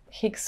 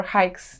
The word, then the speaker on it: Hicks: But it has been quite a turning point for me when I have seen Sheila Hicks or Hikes, depending on the country where you're at the pronunciation, exhibition at Centre Pompidou.